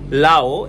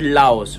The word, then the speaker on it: Lao: Okay, we need to pronounce the country name is Lao. It's not Laos, right?